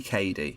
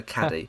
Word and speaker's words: Cady: Her name is spelt phonetically. It's clearly Cady. Why would anyone call her Caddy?